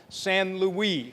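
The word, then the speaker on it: St-Louis: this month, Brigadier General San Louie, and it's spelled like St. Louis.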